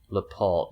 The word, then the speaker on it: Laporte: Laporte, the E is silent.